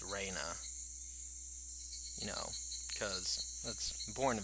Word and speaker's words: Rena: the pronunciations Rena's name her real name is like Raina not Reena it's Raina you know because that's